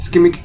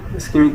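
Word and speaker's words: shikimic: Pathway produces aromatic compound, स्कीमिक, है ना, वो स्कीमिक नहीं, सिकिमिक, है ना, इसकी प्रोनाउंसिएशन थोड़ी सी डिफरेंट है, सिकिमिक, है ना, इसको बोलेंगे ऐसा थोड़ा।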